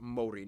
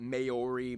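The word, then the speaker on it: Māori: korea and japan yes by the way it's pronounced mori not maori maori they use the new zealand dollar as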